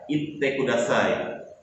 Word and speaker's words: itte kudasai: Ingat ya, itte kudasai. Ditahan pengucapannya.